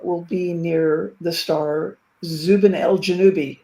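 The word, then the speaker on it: Zubenelgenubi: Is that how you pronounce it? Zuben Zubanel Janui, too, but I've heard Ganubi. Proving once again that there are multiple pronunciations for these things. Yeah. And I think Michael called it something like Zuben Alanubi or I don't know.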